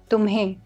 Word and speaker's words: tumhe: the shortened form is tumhe with N, half pronounced N, tumhe.